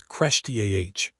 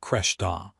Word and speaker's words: Kreshtiazh: No, it's Kreshtiazh, not Kreshta.